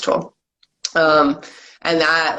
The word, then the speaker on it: Tolle: tolle at cartoon and it's pronounced tool um and that like